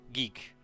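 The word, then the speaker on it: ゲ: You pronounce this as ge for guest.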